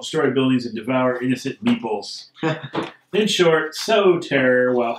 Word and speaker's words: meeple: buildings and devour innocent meeples in short so Terror while having fun the monster has caused the most damage after the carish finally end wins the game note meele pronounced meeple refers to the miniature